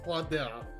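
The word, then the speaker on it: Claudel: name is clell agus cladel is how you pronounce it okay I currently attend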